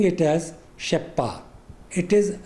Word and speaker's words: Rzeppa: My pronunciation is Sheppa, but it is also pronounced as Rezappa. Anyway, I will be pronouncing it as Sheppa.